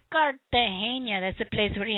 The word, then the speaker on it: Cartagena: You have to say it like they say it. Cartagena.